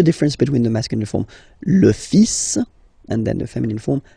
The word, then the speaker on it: fils: So it's le, and then even if you've got this L, well, basically you don't pronounce it, and then strangely you pronounce the final S. Le fils. Le fils.